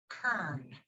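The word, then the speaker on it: cairn: how to say it it's spelled c-a-i-r-n but it's pronounced kern and um as you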